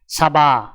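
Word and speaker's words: سبعة: আরবি ক্রমিক সংখ্যা 7 দেখতে এরকম, উচ্চারণ হবে সাবা। তাহলে 7 ক্রমিক সংখ্যাটির আরবি উচ্চারণ হবে সাবা।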